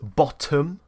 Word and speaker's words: bottom: So some other words, bottom, not bottom, bottom. Settle, not settle. So you see those differences. We pronounce the T, they do more of a D when the T is surrounded by two vowels.